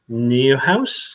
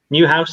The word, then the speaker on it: Neuhaus: I mean, we mentioned just before we went through a number of players, and Florian Neuhaus, have you ever pronounced it? Neuhaus, that's the one. Neuhaus in German, that is.